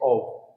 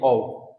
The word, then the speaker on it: of: ओव, ऑफ नहीं, ओव.